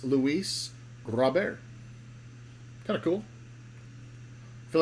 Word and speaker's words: Luis Robert: And if you want to say it right, it's Luis Robert.